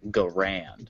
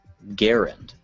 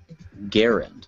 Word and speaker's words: Garand: this classic World War II rifle's name as Garand it's actually pronounced Garand Garand gar people usually pronounce the name of this